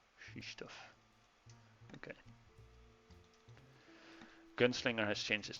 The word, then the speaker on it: Krzysztof: Is it Krzysztof in Polish pronunciation? I don't know. I just know the Polish chess player, and Gotham Chess pronounces it Krzysztof. Krzysztof.